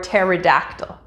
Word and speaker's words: pterodactyl: hear in daily life such as pneumonia or pterodactyl in these cases simply pretend that the p isn't there when pronouncing the word let's try some practice